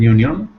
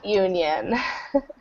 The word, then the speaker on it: union: ones here um so this starts with a vowel letter but it's starts with the sound Y and Y is a consonant sound so a union a union okay it's